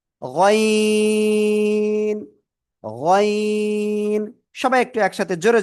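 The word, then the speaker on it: غ: ওই জিহ্বার গোড়া, এক কথায় আমি যদি বলি, ওই যে গলার শেষ ভাগ, ওই জায়গা থেকে এটা মোট আওয়াজে উচ্চারণ করব। গয়িন, গয়িন।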